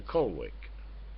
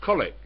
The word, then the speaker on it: Colwick: It's to Colwick. I said, how many times have I told you, Jackie? It's spelt Colwick. It's pronounced Colic.